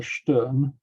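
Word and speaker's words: Stjern: done in norway by camilla stern actually that's how you pronounce it and she was increasing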